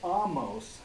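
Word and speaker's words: Ahmose: yes oh i'm sorry the pharaoh amos which is spelled a-h-m-o-s-e but it's that's different that's the same word most as moses amos is is a different word altogether i can't tell you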